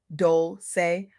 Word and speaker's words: Dolce: I'm your host Dolce, pronounced Dolce, like sweet softness whispered in French.